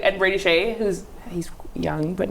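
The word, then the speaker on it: Skjei: Brady Skij. Shea. Brady Shea. Really weird way to... I know. I always pronounce this Brady Skij.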